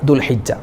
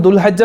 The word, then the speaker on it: ദുൽഹിജ്ജ: അതിന്റെ ഉച്ചാരണം ദുൽഖദ അതുപോലെ ചില ആളുകൾ ദുൽഹജ്ജ് മാസം ഇനി വരുന്നത് നമ്മൾക്ക് ഇനി ഹജ്ജിന്റെ മാസം ദുൽഹജ്ജ് മാസം അല്ലേ ദുൽഹജ്ജ എന്ന് പറയാറുണ്ട് അതുപോലെ ദുൽഹുജ്ജ എന്ന് പറയാറുണ്ട് അതൊക്കെ തെറ്റാണ് ദുൽഹിജ്ജ മാസം ദുൽ കഅ്ദ മാസം